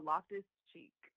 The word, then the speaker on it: Loftus-Cheek: It's Loftus-Cheek.